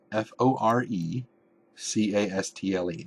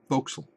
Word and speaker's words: forecastle: terms voxel is spelled f-o-r-e c-a-s-t-l-e looks like forecastle like the forward castle the fort castle but it is pronounced foxel well if if you